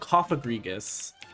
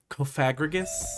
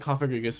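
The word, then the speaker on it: Cofagrigus: Well, for those of you who don't know, the Pokemon is called Coffagrigus. But for some reason, some people love to put emphasis on that second syllable and make it Coffagrigus.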